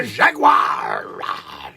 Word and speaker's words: jaguar: It's the jaguar! Jaguar! The jaguar, as I call it. Jaguar. Jaguar. I've got 3 syllables in the jaguar.